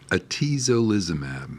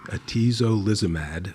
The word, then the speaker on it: atezolizumab: Okay, so that brings us up to this new drug, which is hard to pronounce. How do you say it? Atezolizumab. Atezolizumab.